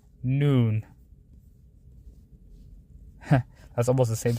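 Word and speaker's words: نون: The letter is noon. That's the name of the letter, noon. And how the closest equivalent is N. Like N, and the sound is N, like noon.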